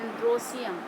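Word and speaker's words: androecium: और इसको स्टेमेन को बोलते हैं एंड्रोसियम, सीधे सीधे बोलते हैं, स्पेलिंग उसी तरह से एंड्रोएशियम, ई लगाते हैं इसलिए, लेकिन बोलते हैं एंड्रोसियम।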